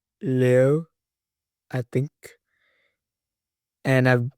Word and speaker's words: Liu: Today's video is on Alysa Louis. So, actually, her name is pronounced Alysa Leo, I think, and I've pronounced it wrong the whole video.